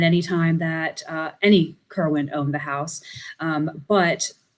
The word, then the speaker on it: Corwin: and corwin uh because it was actually pronounced kerwin but he spelled it corwin and so that pronunciation is just taken on so everyone just calls him jonathan corwin but he would have